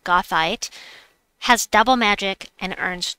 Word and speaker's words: Goethite: Want to point out right away that Goethite, I looked up how to pronounce it, Goethite, has double magic and earns twice the score for this event.